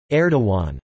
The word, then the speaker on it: Erdoğan: That is Erdogan/e.dudatan. The English equivalent is approximately aw, i.e. Erdogan.